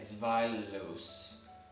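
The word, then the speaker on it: Zweilous: it is uh z-w-e-i-l-o-u-s so it's like the German word for two zylos oh two it's bye okay zvalos yes okay he's violence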